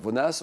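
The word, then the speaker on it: Vonnas: m'avez dit oui d'accord vonas on prononce le S ou pas non on prononce pas le S alors Vona Vona c'est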